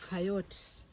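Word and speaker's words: chayote: to call it but this is known as coyotes depending on where you went to school but it's spelled c h a y o t e now you can google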